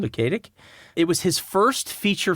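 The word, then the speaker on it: Luketic: film was directed by Robert lukic I think is how you pronounce his name lukic it was his first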